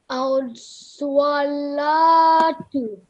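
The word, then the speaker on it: الصلوٰة: When wow has no mark on it, it is called blank wow and will not be pronounced. So we will not include it in our recitation or pronunciation. So how you read this word? Can you recite it, please? As-salatu. So it is as-salatu.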